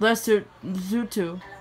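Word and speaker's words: Lesotho: it's pronounced the gambia it's the gambia yako it's pronounced lester zutu the special hero clothes is the western sarah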